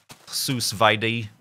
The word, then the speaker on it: sous vide: And I know HC Justin and Breon here are all getting on this sous vide thing. I know it's pronounced sous vide, but it looks different.